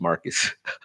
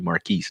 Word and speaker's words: Marcus: appreciate the shout out my name is pronounced Marcus I know I always do that marques your man gonna be marques your mama clay Marcus I would call you marquise Nick it's like no Marcus it is excuse my French but